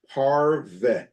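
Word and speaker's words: pareve: nor dairan origin are known as parv popularly pronounced parve okay or parv a term clearly taken from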